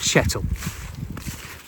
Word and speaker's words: Chettle: Today I'm in the village of Chettle. That's a funny name, isn't it? It rhymes with kettle.